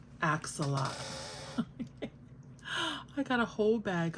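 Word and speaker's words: axolotl: haul so adorable and I know people pronounce it all different kinds of ways but I pronounce it acts a lot I got a whole bag of axolots look at this little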